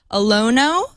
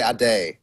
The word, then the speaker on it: Ade: Is it Olonoh? Can you hear me? Yeah. Hi, Abe. Hi. It's actually Ade.